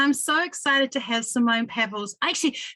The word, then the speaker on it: Simone: this year, and I'm so excited to have Simone Pavills. Actually, Simone, I checked your last name, but is it Simone or Simone? Simone. Thank goodness. I hate it when people mispronounce names, so I thought I'd just check.